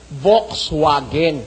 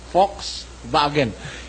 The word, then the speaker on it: Volkswagen: mga mismong aliman Volkswagen Volks vagen itong itong V nagiging f at itong w nagiging V ganon ho ang mga